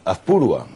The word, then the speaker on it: Azpurúa: Azpurúa. Ah, pues me han puesto el acento en el otro sitio.